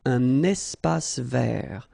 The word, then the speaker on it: espace vert: First thing, you've got this little link between the two. Un espace vert. Final not pronounced, and then final T not pronounced.